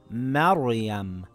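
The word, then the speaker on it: مريم: The letter before it has a fatha. It will read as Maryam with a heavy Ra.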